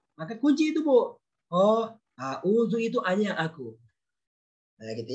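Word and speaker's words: أَعُوذُ: A'udzu aku berlindung Panjang Ibu, baca panjang.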